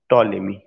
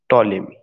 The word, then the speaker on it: Ptolemy: टॉलेमी, टॉलेमी की जो spelling शुरू होगी वो पी से शुरू होगी, PTOLEMY, टॉलेमी, PTOLEMY, टॉलेमी।